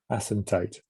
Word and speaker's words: asymptote: Asymptote.